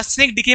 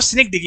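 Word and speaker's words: synecdoche: तो सिनिक डॉक भी सही है क्योंकि इंडियन है तो सिनिक डॉक यूज करते हैं, लेकिन जो असली इसका जो प्रोनाउंसिएशन है जिसपे हम इंग्लिश में बोले तो सिनिक डिकी है, सिनिक डिकी।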